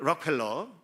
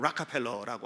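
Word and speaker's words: Rockefeller: 출발입니다 세계 최고의 부자였던 록펠러 이게 이제 영어식 발음은 라카펠러라고 하는데 우리는 록펠러라고 잘 알려져 있는 인물이에요 엄청나게 돈을 벌었습니다 어마어마한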